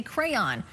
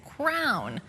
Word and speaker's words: crayon: Well, Tammy from Rishabukto says, my boyfriend just reminded me of how I say crayon. I have always pronounced it as crown.